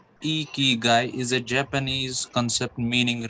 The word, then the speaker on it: ikigai: this yes sir may i pronounced as e key guy is a japanese concept